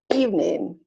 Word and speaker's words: evening: So all of these words are pronounced aspirin, average, Barbara, business, camera, different, evening, every, family, favorite, federal, general, interest.